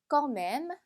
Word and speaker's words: quand même: quand même, quand même. 자, 이 단어 같은 경우 이 m의가 마지막 끝까지 발음이 돼요. 그래서 껑맴이 끝나는 게 아니라 껑맴무까지 발음해 주셔야 되고요.